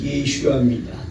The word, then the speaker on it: 예슈아: 이 예수라는 이름은 구약성경에 여호수아이라는 이름이 예수인데 지난주에 말씀드렸지만 예수라는 이름을 그대로 그 원어로 발음을 하면 예슈아입니다.